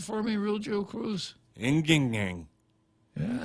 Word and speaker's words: Ng Eng Hen: Defense Ng Eng Hen, I'll spell that, N-G-E-N-G-H-E-N, Ng Eng Hen. Can you repeat that for me, Real Joe Cruz? Inging.